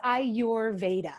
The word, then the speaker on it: Ayurveda: by ayurveda i'm pronouncing ayuverda correct is that is that how you say it yeah close it's i your veda that's i i will